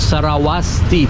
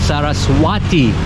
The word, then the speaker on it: Saraswati: footage of the fence I think it's called Saraswati Temple I mispronounced it a few minutes ago no wonder why it